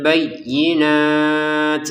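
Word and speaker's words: بينات: Isabna Maryamal bayyinat. Yanya ditekan ya bayyi bayyinat kita di sini ada letupan nafas sedikit bayyinat seperti itu ya.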